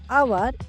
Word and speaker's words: hour: the first letter of our is H here the sound of H is silent it sounded like o